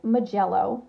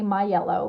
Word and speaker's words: Mijello: their history it's pronounced mijello i always want to say my yellow because that just rolls off the tongue better however that's would be